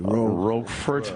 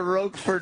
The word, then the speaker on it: Roquefort: Roquefort. Roquefort. Yeah, he had a great show. Jim Roquefort. That's who it is. The Roquefort Files. Jerry's solving a crime. That's kind of fun. See, the Roquefort Files would have been a good one.